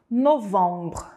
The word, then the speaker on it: novembre: Não é novembre de novembro. é “novãããmbre” aonde é o nasal arredondado.